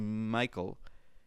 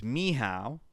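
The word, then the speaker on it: Michał: Actually, I wrote down the phonetic way to pronounce this. It's not actually Michael. It's Miha, apparently.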